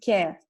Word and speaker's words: Kear: But if you just pronounce it softer, you can pronounce it care, like the word care in English.